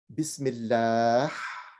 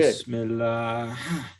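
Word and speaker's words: بسم الله: So when you, and this is the same letter that's used when we say Bismillah. So when you say Bismillah, so it expirates. Bismillah. Go ahead. Bismillah. Yeah, right. Okay. Bismillah.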